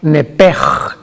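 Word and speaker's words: nefesh: La palabra vida en Levítico 11:17, si no me equivoco, es la palabra nepej, que se escribe nepesh en el hebreo, que es la traducción que se usa para designar el alma humana.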